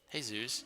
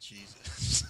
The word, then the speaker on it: Jesus: now she's going on hey Zeus you wanna come to my game oh oh no it's pronounced Jesus um but I was we